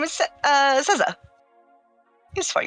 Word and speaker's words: Seza: Scissor? Caesar. Like cerveza? Like Seza. Caesar. S-E-Z-A. Caesar. Oh, I thought you were talking about like Caesar, like the dressing, but not saying it right. No, Caesar. Seesaw.